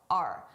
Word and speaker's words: our: I did not pronounce this as our. I said R. A very reduced sound.